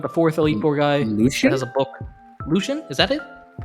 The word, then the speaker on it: Lucian: No, it is Lucian. Lucian. Lucian. Okay, this is Lucille, I guess. Oh yeah. That's how you pronounce it.